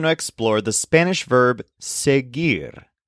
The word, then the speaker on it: seguir: explore the Spanish verb seir spelled s e g UI r with a silent U sear this is a complicated